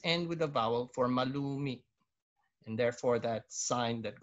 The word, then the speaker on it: malumi: You notice the grave accent on the last, letter there, because it ends with a vowel. But the glottal stop, okay? Malumi, okay? Meaning it has that glottal, but it has still